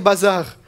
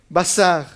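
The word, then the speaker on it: בשר: et il m'a dit fais attention de ne pas dire bazar en hébreu la chair veut dire bah ça elle veut elle veut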